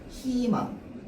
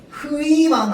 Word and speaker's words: 희망: 그래서 희망 이러면 희망 이렇게 발음해야 됩니다. 허용 안 됩니다. 흐이망 안 돼요.